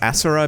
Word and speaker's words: Asura: Also, I'm just going to pronounce it as Asura because that's how it's said in the game.